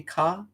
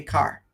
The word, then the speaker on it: car: So you say ka as in as in a light ah sound, slight r in there, but it's like ka. Well, Americans say car, right?